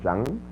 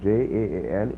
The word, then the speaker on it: Jaan: famous is called Umrao Jang, Umrao Umrao Jang. I believe it's spelled Jaan. So, and I think maybe it has a G at the end, but it's Jaan, Umrao Jan.